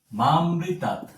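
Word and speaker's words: মামৃতাৎ: হবে মৃত মুয় পরবর্তীতে মামৃতাত আমরা এটাকে মা প্লাস অমৃতাত এরকমভাবে উচ্চারণ করব যদি আমরা এরকমভাবে উচ্চারণ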